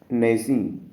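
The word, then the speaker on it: gnashing: नेसिंग इसमें जी साइलेंट है।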